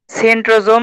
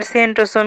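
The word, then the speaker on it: centrosome: সেন্ট্রোজোম আর সেন্ট্রোসোম কি একই জিনিস? হ্যাঁ, সেন্ট্রোজোম আর সেন্ট্রোসোম একই জিনিস, যে যেভাবে উচ্চারণ করে। ইংলিশ উচ্চারণে সেন্ট্রোজোম আসে, বাংলায় দন্ত স দিয়ে লেখে, বর্গীয় জ দিয়ে লেখে।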